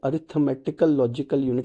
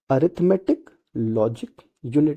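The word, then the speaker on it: Arithmetic Logic Unit: लॉजिक यूनिट होता है, तो इसको कभी कभी कंफ्यूज करने के लिए अरिथमेटिकल लॉजिकल यूनिट ऐसा कुछ भी बोल सकते हैं, तो ये गलत होता है। अरिथमेटिक लॉजिक यूनिट इसका सही प्रोनाउंसिएशन आप कह सकते हैं होता है।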